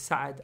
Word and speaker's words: Saad: The way you actually say his name in Arabic, before any of you guys try and correct me, is Saad, I know, but because we're Pakistani, the Pakistani way to say Saad is Saad, and I've been calling